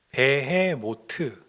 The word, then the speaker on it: 베헤모트: 그래서 히브리어 성경 원어에 보면 이 베헤못이 원어 그대로 읽으면 베헤모트 이렇게 되어 있습니다.